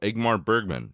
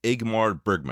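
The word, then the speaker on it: Ingmar Bergman: the great the wonderful egmar Bergman did I say that right I don't know if I did let's check one more time it's igmar Bergman I said it right okay sorry but autum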